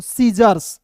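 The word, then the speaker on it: scissors: एस तो पढ़ेंगे दोस्तों सीजर्स क्या पढ़ेंगे सीज़र्स सीजर्स पढ़ेंगे दोस्तों एस सी को उच्चारण मतलब यहां पे एस सी जब एक साथ रहेगा तो सी को साइलेंट करना है अब देखिए थोड़ा सा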